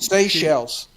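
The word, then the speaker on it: Seychelles: How do you pronounce that? Shellies seashells.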